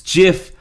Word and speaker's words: GIF: silent well guess what the makers of gift pronounce it's jiff I'll be cold in